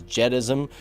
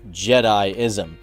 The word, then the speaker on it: Jediism: wait a minute, Leroy, you're pronouncing Jedism or Jediism as Jedism. It's pronounced Jediism.